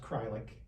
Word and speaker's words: Kreilich: Uh, yeah, so, our logo kind of went that so, yeah, so, nobody can spell or pronounce my actual name, but it's pronounced Krylik when you actually see it.